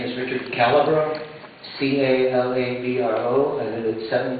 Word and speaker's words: Calabro: can help me with the spell with the pronunciation be followed by john tom my name is richard calabro c-a-l-a-b-r-o i lived at seven candy europe and